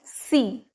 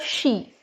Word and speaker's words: she: she he as well a lot of people pronounce C instead of she okay C is another